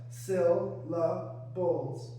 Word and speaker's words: syllables: The first syllable is stressed more than the second syllables.